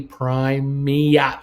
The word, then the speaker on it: Prima: NCL, phonetically Primia.